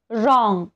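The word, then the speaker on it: wrong: डब्ल्यू हे silent आहे रॉंग डब्ल्यू च्या नंतर आर आलेला आहे रिस्ट इथे सुद्धा डब्ल्यू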